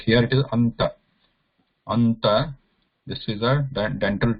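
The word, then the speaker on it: अन्त: So here there is a ta here, and before that there is a, we want to pronounce a nasal sound, and this nasal sound cannot be pure nasal. That is anuswara. Anuswara is pure nasal. Here we need to pronounce na, which is also nasal, but it is also a dental.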